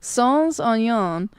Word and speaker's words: sans oignon: Sans oignon.